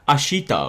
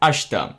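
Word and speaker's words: 明日: you may notice that it's actually written as ashita or something but it's actually pronounced as ashta that's something very common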